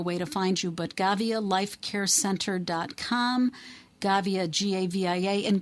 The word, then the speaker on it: Gavia: name of your business again and um it's gavia right g-a-v-i-a gavia g a v as in victor i